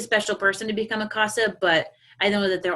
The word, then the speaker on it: CASA: feel like I'm saying it wrong, CASA or CASA.